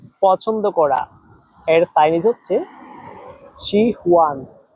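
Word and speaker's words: 喜欢: সবাই আমার সাথে একবার উচ্চারণ করেন, শি হুয়ান। শি হুয়ান এর বাংলা হচ্ছে পছন্দ করা।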